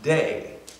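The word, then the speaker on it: δεῖ: the English its Dei in Greece it's pronounced day and that word literally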